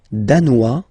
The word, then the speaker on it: danois: Le Danemark, danois, danoise. Zzz, okay, insist on that. Danois, don't pronounce the final S. Danoise, here you pronounce it.